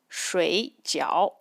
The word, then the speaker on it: 水饺: If I'm using the fourth tone, it is 睡觉. That means sleep. But if I change the tone, it becomes 水饺. It's dumplings. Another example is the word 问.